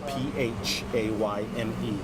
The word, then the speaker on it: Phayme: Last name is spelled P-H-A-Y-M-E. Pronounced Phayme.